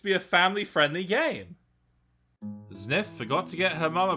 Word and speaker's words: Zniw: earth its new adventure which from the in-game encyclopedia is actually pronounced sniff is developed by azure